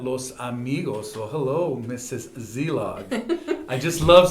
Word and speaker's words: Szelog: Zlog. I just love saying your last name, Zeog, and I've learned how to say it cuz the S is silent, right?